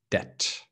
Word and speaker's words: debt: help people okay okay so a lot of people say deb but no be dead okay so silent b so um so clearly